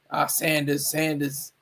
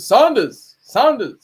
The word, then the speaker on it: Saunders: A lot of people say, I remember my drill instructor used to say, Sanders. Like, but he never pronounced the U in it. But my oh my God, senior drill instructor, a senior drill instructor, he always said Saunders.